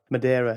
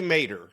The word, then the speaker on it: Maderer: host Aaron and today I'm joined by Madera is that correctly pronounced SC it's actually Mater is how you pronounce it I know I